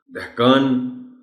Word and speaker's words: دہقان: بولے، دونوں درست ہے۔ دہقان، دہقان اسی طرح بولا جانا چاہیے جس کے معنی کسان